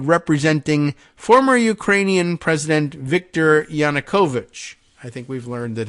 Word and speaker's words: Yanukovych: former Ukrainian president Victor Yanukovych I think we've learned that his uh name is pronounced that way I used to say yanukovic but I guess it's Yanukovych this is where things turn